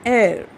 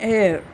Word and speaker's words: heir: An heir, okay, an heir, here H is silent.